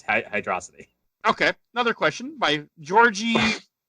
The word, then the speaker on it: Hydrocity: yeah maybe that's it because it is one word so maybe it is hydroxide yeah hydra it's just like megamind it's hydrocity okay another question by